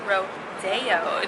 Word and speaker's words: Rodeo: Jews are talking now I'm at ro-day-o Drive which is not pronounce of rodeo so it all makes